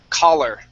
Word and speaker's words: collar: Okay, that is collar. Okay? And remember, this O is more like an ah sound. So collar. Okay?